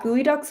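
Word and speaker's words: geoduck: I think I think it's just g eo duck, but it's pronounced gooey duck, but I could be wrong about that.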